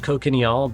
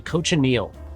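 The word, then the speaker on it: cochineal: how to pronounce it I've been saying it wrong for years cocal really close I always said cocal but it's actually coach Anil and Coach Anil is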